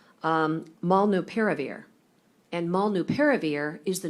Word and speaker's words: molnupiravir: seems, every 6 months, but this one looks like it could be pronounced molnupiravir.